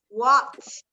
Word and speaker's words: walked: Walked. ¿Verdad? Con esa T al final. Como si tuviera que no existiera esa E.